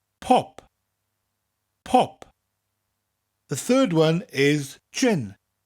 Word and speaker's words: pop: in Welsh it's pop but just really emphasize a second P pop pop the third one is